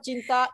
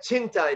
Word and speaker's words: cinta: Saya cinta Indonesia. Okay. Exactly. I mentioned that C in Indonesian means CH. It's not C. So saya cinta Indonesia.